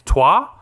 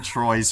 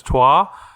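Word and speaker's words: Troyes: I've been saying Troy's for like 100 episodes. I'm under the impression it's Trois. It's too late to go back now, Lockie.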